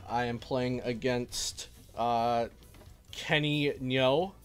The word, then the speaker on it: Ngo: I am playing against Kenny Nyo, I believe his last name's pronounced. I always say it wrong. But Kenny, and his last name's spelled NGO, I believe.